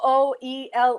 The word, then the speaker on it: Tooele: Matter of fact, just Tooele. Is that how they pronounce it?